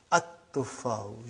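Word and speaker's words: التُّفَّاحُ: So you will pronounce as at-tuffahu.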